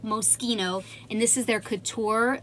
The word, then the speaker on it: Moschino: long line from moschino this is how you say this not moshino it is pronounced moschino and this is their